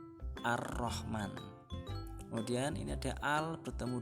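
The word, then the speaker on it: الرحمن: Dan yang kelima, al bertemu dengan ro, contohnya ar-Rahman, bukan al-Rahman tapi ar-Rahman.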